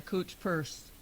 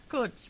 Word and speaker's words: Coach: about how she was going to buy a cooch purse oh is that how they said it cooch purse yeah I never heard coach being pronounced like cooch Co what you say coach coach coach oh my okay so you're going